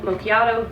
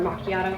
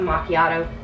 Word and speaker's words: macchiato: If you hear me do butterscotch swirl or caramel mochiato, those are both up there. Or macchiato, I should say. Excuse me. Mochiato. Oh, dear. Some people pronounce it mochiato, some macchiato.